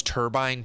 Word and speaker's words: turbine: Have you have you guys ever heard anyone say pronounce turbine turban?